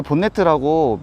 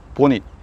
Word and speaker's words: 보닛: 영국식 발음으로 보닛입니다. 이것을 본네트라고 미국식으로 잘못 얘기하는 경우가 많은데요. 사실 본네트라는 미국 단어는 끈을 턱 밑으로 묶는 모자를 뜻하는 단어입니다. 그래서 올바른 명칭으로 영국식으로는 보닛, 미국식으로는 후드입니다.